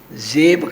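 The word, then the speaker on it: ਜ਼ੇਬ: न जात के जेब हां उच्चारण जेब करना है जजे दे पैर वि बिंदी ला के बोलना तात न जातकर जन्म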